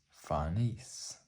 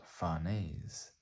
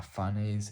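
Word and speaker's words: Farnese: research into it and the name is a French name and it is pronounced fares so um if you're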